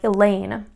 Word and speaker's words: Elaine: You think about a name like Elaine. Lane, that second syllable is going to be the one that is accented.